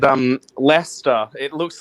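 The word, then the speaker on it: Leicester: you it's spelt it it should sound looks like it should be said like lycaster or something weird like that it's l-e-i-c-e-s-t-e-r but it's just pronounced lester yeah i messed that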